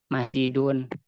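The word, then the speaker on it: مسجد: Kayak tadi masjidun dari yasjudu, harusnya kan aturan masjadun ya, bukan masjidun. Tetapi karena apa? Karena contoh yang tadi itu masjidin itu merupakan contoh yang bagian yang syadz, yang menyalahi aturan umum, makanya dibacanya masjidun dan mengikuti apa? Mengikuti kebiasaan orang Arab itu sendiri.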